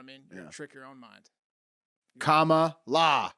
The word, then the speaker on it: Kamala: trick your own mind comma la yes that's how you say it it's almost like common law you guys ready you